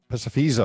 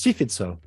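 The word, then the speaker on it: Psephizo: Although I have had a native Greek speaker from Greece who's corrected me on my pronunciation because they actually say epsilon as an I now, so it's Sofizo. But it's easiest just if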